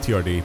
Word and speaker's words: TRD: Camry um and uh yeah I know it's pronounced TRD but it's just funnier to say turd because I think it'll it'll kind of bait